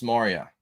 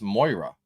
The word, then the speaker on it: Moira: The Minds of Thomas Moria. That's how you say it, isn't it? Moira? Is it Moira? Moira? It shouldn't be Moria. It's Moira.